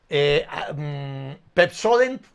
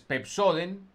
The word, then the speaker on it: Pepsodent: Entonces, Pepsoden, la gente con no joden. Dice Pepsoden. No, Pepsoden. Con joden rima Pepsoden.